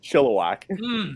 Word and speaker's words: Chilliwack: It's Chilliwack. Oh, Chilliwack.